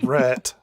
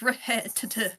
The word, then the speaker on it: Rhett: Get ready for Rhett. No, not Red. That's not how you pronounce my name and you know it.